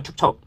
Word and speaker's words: 축척: 통과가 된 적이 있었죠 척입니다이 발음하기가 어렵습니다 축적이 아니라 축척 도시개발 사업 등으로 인한